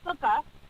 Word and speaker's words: sukkah: see standing in the drive those are called sukkah but the holiday is too close right right okay right so the sukkah right so sometimes it's it's it's it's free